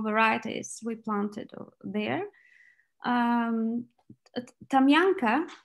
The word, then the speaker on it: Tamyanka: we planted there um tamyanka that's how we pronounce it in bulgaria tamiyanka uh is a choice